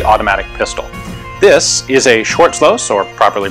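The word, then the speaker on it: Schwarzlose: cool prototype early automatic pistol this is a short slows or properly pronounced shotzlosa hi guys thanks for tuning in to another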